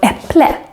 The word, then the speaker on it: äpple: For example, we have the word äpple, apple, is written with an ä, but we make it an E sound because it's followed by two consonants.